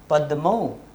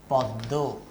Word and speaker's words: পদ্ম: দেখো প্রগত সমীভবন আমি উদাহরণ লিখেছি পদ্ম, এটা সংস্কৃত ভাষায় প দয় ম, কিন্তু আমরা বাংলায় সেইভাবে উচ্চারণ করি না পদ্ম, তা থেকে বাংলায় আমরা বলি পদ্ম।